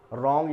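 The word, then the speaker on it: wrong: बाद के जो लेटर हैं उनको यहां पर प्रोनाउंसिएशन किया जाता है। जैसे राइट यानी लिखना, रॉन्ग यानी गलत, रिंकल यानी झुर्री, और इसी तरह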